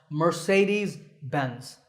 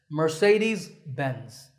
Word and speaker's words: Mercedes-Benz: get it exactly right in English it's generally pronounced mercedes-benz mur say like to say something DS Benz mercedes-benz and number ten is yet another German car